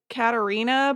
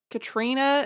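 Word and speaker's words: Caitríona: lady from how Lander her name looks like Katerina but it's pronounced like Katrina and there's no T in it I do not understand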